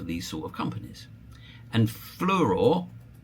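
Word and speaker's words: Fluor: And Fluror, which is spelled like flower but like a dyslexic would spell it, um is a example of a company that's made a few slips.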